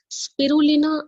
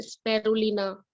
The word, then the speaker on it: Spirulina: स्पिरुलिना, इसका नाम ध्यान से सुनिएगा, क्योंकि कई बार हम इसका प्रोनाउंसिएशन जो है स्पेरुलिना या स्पेरुना इस तरीके से कर देते हैं। इसका जो ओरिजिनल जो प्रोनाउंसिएशन है वो है स्पिरुलिना, स्पिरुलिना, राइट।